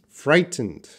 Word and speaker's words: frightened: how to pronounce frightened frightened frightened I'm very frightened No I'm very frightened that T is at t seems reduced and very frightened of